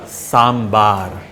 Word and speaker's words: Sambar: Not sambar , It's correct pronunciation is Sambaar Sambar is a lentil preparation , So It